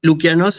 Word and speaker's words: Λουκιανός: Recuerden que ellos, fíjense cómo se pronuncia mi nombre, se escribe con el diptongo, ¿sí? Omicron Y, pero eso se pronuncia U.